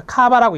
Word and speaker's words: KAVA: 이 카바는 Korean Association of Voluntary Agencies, 그래서 앞에 있는 이니셜을 딴 거예요. KAVA, 그래서 카바라고 읽습니다.